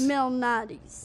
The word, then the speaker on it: Malnati's: here in New York how do you say Lou Malnati's Mel Nadi's right very good got all this up